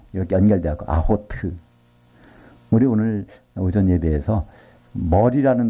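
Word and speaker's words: אחות: 그래서 아흐트인데 그 발음이 이렇게 연결되어 있고 아호트.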